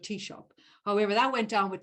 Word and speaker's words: Taoiseach: to learn how to phonetically pronounce Taoiseach, although he spelt it first as T-E-A-S-H-O-P, Taoiseach, as in coffee shop, but Taoiseach.